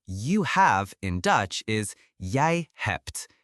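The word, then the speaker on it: jij hebt: Now you have in Dutch is yay hept. Yay hept. J I h e bet. Yay hept. Notice the t at the end of hept.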